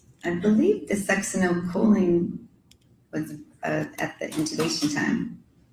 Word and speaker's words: succinylcholine: And so if the, which is the pronunciation, you pronounce it, Succinylcholine.